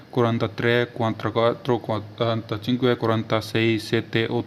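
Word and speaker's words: sessanta: तक फिर आएगा 60 60 को बोलते हैं से सांता शांता 60 60 को क्या बोला जाता है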